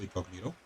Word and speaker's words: INGOGNITO: He told me in the email that he wants it pronounced Incognito. Okay, fair enough. Although it's written with a G, but that's okay.